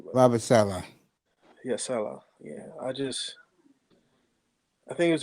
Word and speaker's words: Saleh: How you pronounce his name? But Robert Saleh. yeah, Saleh.